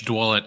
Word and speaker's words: Dwulet: pronounce your last name yeah it's dwet I about a lot I get about five to six different pronunciations so I appreciate Chris